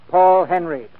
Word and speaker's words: Paul Henreid: He pronounces his name Paul Henreid.